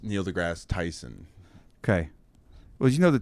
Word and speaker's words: Neil deGrasse Tyson: Or is it Neil Tyson deGrasse? It's Neil deGrasse Tyson.